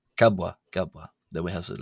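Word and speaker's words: ⲕⲁⲃⲃⲁ: pronounced as a w but when you have two bs like this the first b will be pronounced as a b and the second one as a w so that's why it's the letter kabwa gabwa then we have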